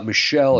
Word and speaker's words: Michel: what's her name uh Michelle is how I pronounce it but it's yeah it's